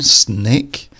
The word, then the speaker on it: snake: snake and snack so the first one snake this is a long thin animal with no legs and here the a in the middle makes an a sound compare that with snack